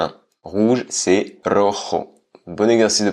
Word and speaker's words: rojo: niveau de base débutant à un rouge c'est rojo bons exercices de prononciation le pôle coup quand même heureux air